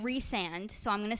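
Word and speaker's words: Rhysand: you you meet this guy named I it's pronounced reand reand so I'm going to say Reese in my head I read it as Rand I also read it as as Rand she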